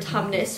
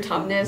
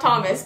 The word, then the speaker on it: Tumnus: dog mr tumnus so nobody knows how to say his name probably every time someone asks us we're like it's mr tubman so like mr thomas close enough thomas is not thomas but everyone calls him mr thomas so who made the